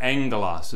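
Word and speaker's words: ἄγγελος: When you're reading your Greek and you come across gamma gamma, it's pronounced ng. So the Greek word for angel or messenger, angelos, is how you pronounce that.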